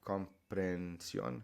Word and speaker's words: comprensión: an exception purely because these H's in Spanish are always silent. Right? So there's no need to add it in here because you're not going to pronounce it. It's just one long air sound.